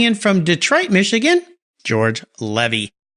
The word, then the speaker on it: Levy: from Detroit Michigan George Levy remember his name cuz it rhymes with Chevy and there's a reason